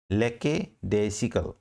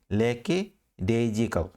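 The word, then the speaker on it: lackadaisical: को ध्यान से देखिए, लेके डेसिकल, लेके डेसिकल, या इसका प्रोनाउंसिएशन कई बार ये भी बोला जाता है लेके डेजिकल, लेके डेजिकल और डेसिकल दोनों राइट हैं।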